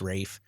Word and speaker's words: Ralph: I mean you have Lenny Nero of course who is now I say Ralph Fines but I've been told that it's Rafe apparently pronounce his name differently than everybody else but he does a